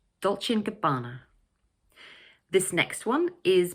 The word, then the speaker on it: Dolce & Gabbana: But it sounds much more natural to connect the 3 words together so that the word and almost disappears, like this, Dolce & Gabbana, Dolce & Gabbana.